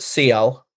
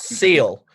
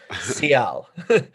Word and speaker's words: Ciel: Apparently, I'm going to pronounce it Ciel, and let's hope that I'm right. Kiss from a Rose. Yeah, not Seal, Ciel.